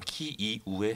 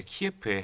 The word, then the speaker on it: 키이우: 우크라나 정부에서 지적이 있었던 우크라이나의 수도는 우크라이나 어의 명칭으로는 키이우에 해당하고 러시아식 발음을 했을 때 키예프에 해당하는데요 저희가 기본적으로 우크라이나 수도를